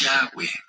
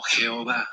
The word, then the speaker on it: Yahweh: Nunca sonará como Jehová, jamás, es una blasfemia. Busca en internet, Jehová quiere decir el destructor, búscalo. No me creas a mí, búscalo. A ver si, y no se dice Jehová, no es una Het, es una Yud. Yud, He, Vav, He, que no se pronuncia. No digas Jehová porque es una aberración.